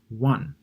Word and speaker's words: won: government onion oven one not the Korean currency it's the past of win Korean currency is pronounced won this one here the past of win is pronounced one and then monkey London